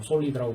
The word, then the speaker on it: SOLID: 일반적인 디자인 패턴을 알아보기 전에 클래스의 계층과 일반적인 클래스 설계에서 사용되는 일반적인 클래스 개념들을 먼저 살펴보고 가장 기본적인 디자인 패턴인 SOLID에 대해서 솔리드라고 발음하는데 대해서 살펴보도록 하겠습니다.